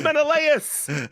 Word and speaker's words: Menelaus: Patroclus, Menelaus, it's Menelaus.